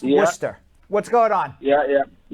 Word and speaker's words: Worcester: best of luck let's go to jim in worchester massachusetts jim jim how are you worcester worcester but pronounced worcester what's going on yeah yeah oh good so